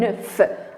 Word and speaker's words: œuf: Lisez bien, un œuf. Alors, F se prononce.